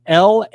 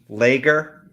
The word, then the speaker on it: lagar: spell legarr for then l-a-g-a-r l-a-g-a-r lagar not not pronounced lager not lager not logger not lager it's not